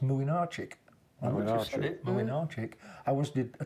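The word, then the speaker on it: Młynarczyk: I did Poland against France, funnily enough, and the Polish goalkeeper was spelt Mlynczarek. You've lost me. Look like Blinkazurek. Pronounced how you do your homework, and I went and checked. It's pronounced Mlynczarek.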